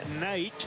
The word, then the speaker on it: Knight: Brian Knight, silent K is at first.